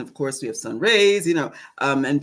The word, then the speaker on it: Ra: course we have sun rays you know um and people mispronounce the name they say Rah it is not Rah it is Ray Ray is a very